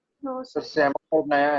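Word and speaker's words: psammophyte: सेमोफाइट नया है, सेमोफाइट लग रहा है नया। SAMO, सेमो, P silent, सेमोफाइट, PSAMO, सेमोफाइट, PSAMOPHYTE, सेमोफाइट, PSAMO, सेमो P silent, सेमोफाइट, सेमोफाइट।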